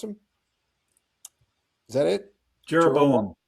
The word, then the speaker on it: Jeroboam: Jeroboam. Jeroboam. The Western Kansas accent. Okay, right. Okay. Well, I'll call him Yerovam, and that's the West Bank accent.